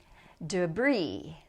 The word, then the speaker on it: debris: So don't pronounce the P. Debris, no S.